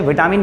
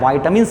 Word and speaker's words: vitamins: हालांकि मैं बता देता हूं, विटामिन इसका सही उच्चारण नहीं होता है, वाइटामिन्स बोला जाता है, लेकिन वाइटामिन्स बोलूंगा तो बहुत लोग समझेंगे ही नहीं कि मैं बोल क्या रहा हूं, ठीक है। इसलिए तो विटामिन विटामिन बोल दिया जाता है, लेकिन वाइटामिन्स इसका सही प्रोनाउंसिएशन है, ठीक है।